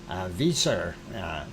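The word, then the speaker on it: Vísir: So VISIR, Visor is, I do believe, the proper pronunciation.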